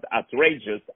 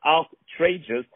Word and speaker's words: ARTrageous: Not outrageous, ARTrageous. Let me spell it for you. It's A-R-T in capital and then rageous.